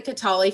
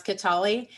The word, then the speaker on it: Kataly: what how to pronounce ketali i suggested it sounds a little like beyonce yeah bialy that's um but that was not that was a little obtuse katali foundation anyway um we